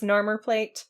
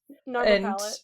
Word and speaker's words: Narmer Palette: Yes, Carter asks the Shabti in the library to get him the, how'd you pronounce this, Narmer plate? Palette? Narmer palette, yeah.